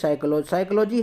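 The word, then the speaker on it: psychology: पास दूसरा वर्ण है पीस साइकोलॉजी है जिसमें पीस साइलेंट है और इसको हम साइकोलॉजी कहते जब की नॉलेज वर्ड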